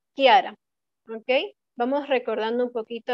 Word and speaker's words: Chiara: Esto recuerden que se pronuncia como ki, ki, ki, ¿ok? No lo vamos a leer como chi, eso sería incorrecto. Este de aquí es chao y este es ki, como una K, Kiara, ¿ok?